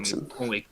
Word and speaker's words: Thorbjornsen: The highest TP running back in this game is going to be Gunnar Thorbjornsen at 1147, and It's he's pronounced really Turkson.